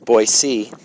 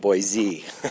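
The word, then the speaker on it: Boise: It's boy C, not boy Z.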